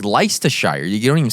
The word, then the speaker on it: Leicestershire: stupid they do like I kept saying lie Caster Shire but apparently it's like leicestershire or something I just said it